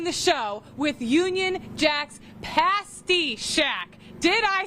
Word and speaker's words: Pasty: outside we're starting the show with Union Jack's Pasty Shack did I say it right yes that's